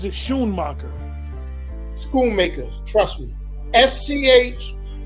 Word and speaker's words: Schoonmaker: So SCH, You would really pronounce it Schoonmacher.